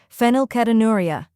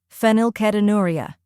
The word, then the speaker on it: Phenylketonuria: slowly filo new now let's say it faster fenel ketonuria fenel ketonuria great work did you know fenilcetonuria or PKU